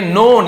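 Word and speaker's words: known: ऐसे यूज किया जाएगा नो का नोन हो जाता है के यहां प साइलेंट होता है के एन एक साथ हो तो के ज्यादातर आपको साइलेंट ही मिलेगा नोन जाने जाते थे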